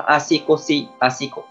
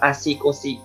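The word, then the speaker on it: 足腰: Nghĩa của nó là asikosi, asikosi. Nghĩa của nó, cách đọc của nó là asikosi, nghĩa của nó là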